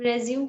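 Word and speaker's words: résumé: Sanjana Kumari, the word is resume. Yes, ma'am. रिज्यूम की जा रही हूँ, बोली जा रही हूँ.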